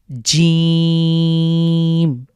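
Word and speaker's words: ج: এটা তালব্য বর্ণ বলতে পারি। অর্থাৎ আমাদের জীভের জীভের যে মাঝখানটা সেটা উপরের তালুর সাথে লাগবে। বাংলার যে জ রয়েছে ঠিক সেরকমই বলতে পারি। এটাকে আমরা শক্ত করে উচ্চারণ করব এবং লক্ষ্য রাখবো এটা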